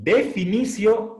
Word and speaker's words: definitio: La sílaba ti delante de vocal se pronuncia sí. Definicio, determinacio.